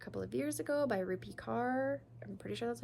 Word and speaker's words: Rupi Kaur: This was a very popular book a couple of years ago by Rupi Kaur.